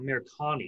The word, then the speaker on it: Amirkhani: Then we have, sorry, I may pronounce this wrong. Makwan you know what? Amirkhani.